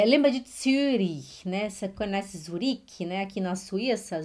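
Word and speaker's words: Zürich: é a língua de surin nessa conhece zurique na suíça zurich se fala suri é assim que se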